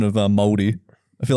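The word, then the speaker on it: Māori: Unlike you cunts, where I was like, are you Maori? Maori. We got to say all the vowels.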